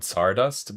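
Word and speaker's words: Tsardust: who know that um that spice store called Sardust, but it's spelled T S, like you know, Polish Russian.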